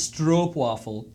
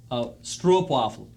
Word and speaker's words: stroopwafel: we always say stroopwafel because to us that looks like like Stroupe rhymes with stooped to us right but it is strop waffle stroopwafel and so this is